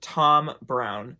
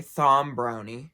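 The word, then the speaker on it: Thom Browne: is a designer named Tom Brown or as some people would like to say thumb brownie because it is it's spelled th om PR o w and E now Tom Brown is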